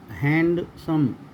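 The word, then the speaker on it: handsome: डी तब भी silent रहता है जब ये एन और डी के साथ में आता है। जैसे हैंडसम, ये मैंने बताया आपको, इसको हैंडसम ने एन डी साथ में है इसको बोलेंगे हम हैंडसम।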